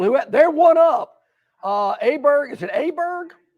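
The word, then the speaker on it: Åberg: John, how do you pronounce Aberg? Iberg with the circumvents over the little dots over his later.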